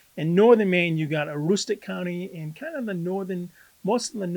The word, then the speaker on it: Aroostook: So in northern Maine, you got Aroostook County in kind of most of the northern